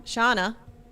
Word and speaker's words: Shauna: From rhymes with Don. Shauna. She said, P.S.